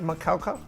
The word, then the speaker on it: Macaulay: And its name is pronounced Macaulay.